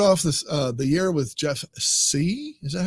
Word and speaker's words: Jeff Sieh: We started off this the year with Jeff Sieh. Is that how you pronounce his name?